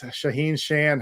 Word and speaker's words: Shaahin Cheyene: the same thing so joining us today is shaheen shan how are you shaheen yeah i'm doing great great pronunciation of my name you nailed it the